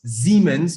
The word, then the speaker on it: Siemens: siemens by the way it's pronounced siemens with a z that's how the germans pronounce it that's the conglomerates that